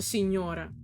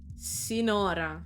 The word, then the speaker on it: Signora: Come cazzo la pronuncia, signora? Sinora. No. Signora.